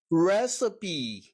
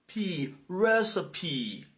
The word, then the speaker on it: recipe: you have K karoke karoke and you have recipe re recipe okay thank you everybody for watching it's been